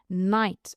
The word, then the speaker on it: knight: Knight as in caballero la K no se suena nada.